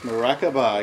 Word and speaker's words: Maracaba: I like Tarquin at $9.50 and Maracaba, is that how we pronounce that? Yep. Maracaba, exactly.